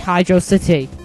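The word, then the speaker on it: Hydrocity: word is it pronounced V City no it's pronounced velocity so I don't get why people call it Hydro City Hydra means water it's it sort of makes sense why I've always pronounced it hydrosity well Sonic Team if you're going to name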